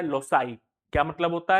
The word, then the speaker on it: loci: लेकिन अगर दूसरा शब्द इसका निकालना चाहे तो दूसरा शब्द क्या बनता है? LOCI। ठीक है, क्या बनता है? LOCI। इसको लोकी मत पढ़ना, इसका प्रोनाउंसिएशन होता है लोसाई।